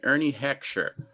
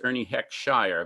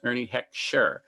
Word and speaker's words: Ernie Heckscher: They had an orchestra that was led by a fellow named Ernie Heckscher, often mispronounced as Ernie Heckshire, but it was Ernie Heckscher.